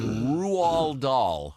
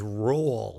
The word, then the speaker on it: Roald Dahl: He's chastising me for mispronouncing Roald Dahl. I'm told it's it's Roald. I always thought it was roll. That's what I've said, Roald Dahl.